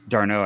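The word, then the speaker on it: d'Arnaud: armed tomorrow but I was starting oh yeah darno I should say yeah I always get his name wrong uh they should be trading for darno tomorrow but like at the same time this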